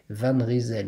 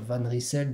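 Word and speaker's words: Van Rysel: pour la bonne prononciation il y a quelques temps encore je vous confie que je disais van reisel mais bon apparemment il faut dire van ricell donc je vais essayer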